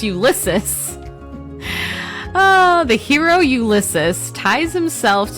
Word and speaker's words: Ulysses: In Homer's Odyssey, a Greek epic dating to at least 800 BC, before Christ, the hero Ulysses, I can't ever say his name, gosh darn it, it's Ulysses.